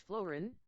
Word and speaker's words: fluorine: 9f and regarding fluorine its pronunciation is Florine Florine or Florine it's allotropes are alpha